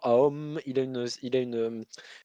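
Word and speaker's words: Aum: Et vous savez, Guénon il disait, justement le son Aom, une signification intéressante parce que vous commencez en disant A avec la bouche grande ouverte, la syllabe du milieu c'est Om et graduellement vous refermez la bouche, mais ça se maintient pendant un certain temps et à la fin vous prononcez le et ça se perd dans le nez, donc c'est une vibration qui devient subtile en fait et qui devient presque inaudible, mais qui existe.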